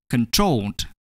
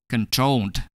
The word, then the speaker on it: controlled: The base form control ends in a vowel O plus L. Hence, the consonant is doubled. Controlled. Controlled. In this situation, the last syllable, troll, is stressed.